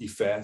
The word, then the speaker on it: Ife: yes because no one if you don't speak yorba which is the nigerian language that's the tribe that i'm from uh you won't be able to pronounce ife because it's a tonal language right so everyone i've always been called efe since i was born but when i got here people couldn't say hey fair so it was ife